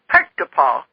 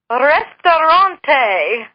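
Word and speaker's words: Ресторан: she'd laugh, and said, that's not how you say it, but that's what it looks like with these weird, like the P is like our R, like that. It's the best our brain can come up with. And so this time I said, well, how do you pronounce that? If it's not Pektapal, how do you pronounce it? And she says, Restaurante.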